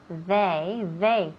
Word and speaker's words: they: Si dices they, eso suena como day de día, con una D, y no es una D.